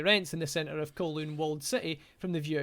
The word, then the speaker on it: Kowloon: I thought it was pronounced Kowloon. Kowloon. You didn't know what it said. It is Kowloon, yeah.